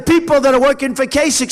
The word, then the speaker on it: Kasich: Even though it's pronounced I-C-H, it's Kasich with a K, like with a K, okay? Think about K.